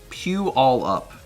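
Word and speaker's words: Puyallup: It's pronounced pew all up.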